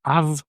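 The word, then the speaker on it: αυ: The a is a combination of alpha and epsilon but it's not pronounced I. It's pronounced either av or a with a voiced or a voiceless v after the a and the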